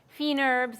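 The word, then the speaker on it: fines herbes: a little chop tarragon fee nurbs as they call them in French it's really about these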